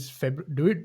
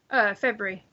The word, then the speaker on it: February: Is it February or is it February? Do you pronounce the R? February. Okay. I do. I just don't pronounce the middle of the word. Because yeah, I think Americans February. don't say the R, right?